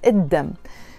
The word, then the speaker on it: الدم: الدم, we write it الدم, the blood, but we pronounce it الدم because the word دم starts with a dal, and the letter dal, the d, d, d sound, is a sun letter, and all the words in Arabic that start with a sun letter, when we add an l to them, we have to not pronounce the l.